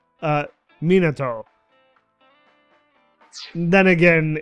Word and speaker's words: Minato: capital city highway in monado district tokyo oh god the the english pronunciation of that monado minotaur a traffic collision occurred